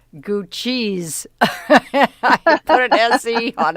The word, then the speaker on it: Gucci: But anyway, Gucci, the correct pronunciation, it says, is Gucci, not Gucci.